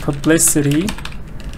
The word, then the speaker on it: publicity: the word publicity publicity then stress is no longer on the first part because you say publicity publicity but here stress was